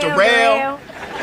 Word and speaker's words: Derel: It's spelled like Daryl, but it's pronounced Dell.